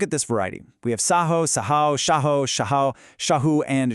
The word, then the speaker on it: Saho: Take the first form, Saho, with that little line over the A. That simply denotes a long A sound. So, Saho. Next, you see a Ha with a dot underneath.